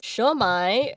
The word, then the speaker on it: Siomai: Shomai, which is spelled Siomai. It is a cognate of shumai, the Chinese shumai.